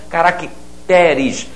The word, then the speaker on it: caracteres: que aparecia aqui antigamente caráter caracteres a sílaba atônica passou a ser a sílaba seguinte casos especiais da nossa